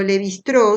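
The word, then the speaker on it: Lévi-Strauss: introduce un antropólogo llamado l bistró se escribe lévi strauss y que es el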